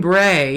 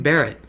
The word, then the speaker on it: beret: they said you know it was supposed to be green beret and guy says green Barrett I was like what